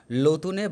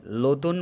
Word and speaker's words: নতুন: ল পুরনোই ঘর বাঁধলাম, লতুনে বাখার বাঁধি পুরনো খাই, এই খেতে যেন জনম যায়, নতুন বস্তু পুরনো অন্ন, তোমার কৃপাতে জীবন ধন্য। ল অর্থাৎ নকে ওরা ল হিসেবে উচ্চারণ করে। ন অর্থাৎ নতুন, অর্থাৎ রূপটা হবে এরকম,